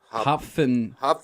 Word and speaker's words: Hopfentea: It's an F. It's Hopfentea. Hopfentea. It's like a German thing.